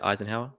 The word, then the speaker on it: Eisenhower: So besides the Eisenhower, is that how you say it? Eisenhower?